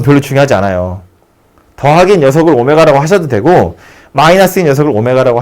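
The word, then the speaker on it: ω: 말로 이 방정식의 한 허근을 오메가라 할 때 이게 쓰는 건 W처럼 쓰는데요. 읽을 때는 오메가라고 읽어요.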